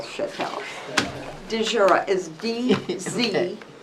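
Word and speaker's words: Dziura: DeJura. I live right on Chatel. Would you spell that, please?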